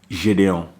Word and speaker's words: Gideon: But the pronunciation Gideon, it's French, like pretty much.